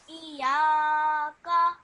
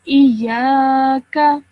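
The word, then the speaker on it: إياك: Iyaka. Okay, so this ya, that has a alif madda afterwards. Okay, so you have to elongate that sound for 2 seconds. Iyaka.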